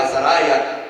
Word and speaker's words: Azariah: Pero sería Azariah y Ananiah. Sería como se diría. Ahora, ellos, sus nombres terminaban en Y-A-H, en Aya. Que en hebreo sería más como Uya. En vez de Aya sería como Uya, es como se diría.